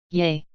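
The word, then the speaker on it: 예: on the word yay next is yay the romanization for this character is ye sounds like the a on the word yes so those are the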